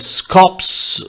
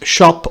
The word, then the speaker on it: scop: see the words rappers scops scopes it's how it is written but the right pronunciation is shop or shop we will see that